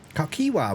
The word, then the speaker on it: Kakiwa: Kakiwa, you were right the other day. Kavkiwa. Kakiwa, we said that. That's how you pronounce it.